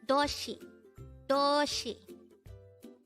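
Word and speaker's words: 도시: dayhango word number 234 this is pronounced as a two-syllable word the first syllable is second syllable is she pronounce it with me Doshi for the last time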